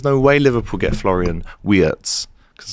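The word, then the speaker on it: Wirtz: way Liverpool get Florian Watz cuz that's how you pronounce it in German.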